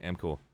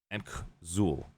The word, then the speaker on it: Amkzul: Amcool. Amkzul, actually, is how you say it.